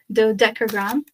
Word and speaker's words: Dodecagram: Dodecagram.